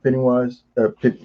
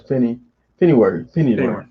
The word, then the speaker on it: Pennyworth: One, this series, this trilogy, I really enjoyed Michael Caine as Alfred Pennywise. Did I say it right? Not Pennywise, Pennyworth. Yeah, Pennyworth. I always just call him Alfred, but anyway, I liked him.